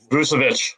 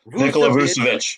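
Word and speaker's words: Vučević: And as far as getting rid of your only all-star and sending, is it Vucevic? Do I always say it wrong? Vucevic. Nikola Vucevic, yeah.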